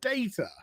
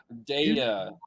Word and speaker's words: Data: correct you to his correct pronunciation which is data data honestly in this new